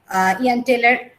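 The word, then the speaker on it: Jahn-Teller: But most of the cases when we observe the symmetry will break up in the EG level, then we can get the Ian-Taylor pronounced Ian-Taylor effect.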